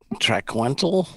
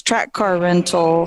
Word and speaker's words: Track Car Rental: Trackwental? Track rental. It's Track Car Rental.